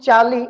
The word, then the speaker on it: Charlie: In the name Charlie, you don't say the r for the same reason. Charlie, not Charlie, only Charlie.